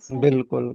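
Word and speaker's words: بالکل: अलिफ साइलेंट हो जाता जैसे बिल बिल्कुल बिल्कुल को बालकुल लिखते हैं लेकिन वो बिल्कुल हो जाता है। बालकुल लिखेंगे। हां बालकुल लिखते हैं। अलिफ साइलेंट होता है इसलिए बिल्कुल पढ़ा जाता है।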